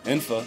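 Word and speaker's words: N'fa: how you pronounce your empty name infa in my birth name yeah no it's actually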